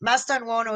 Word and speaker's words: Mastantuono: Yes, Mastantuono is the right pronunciation.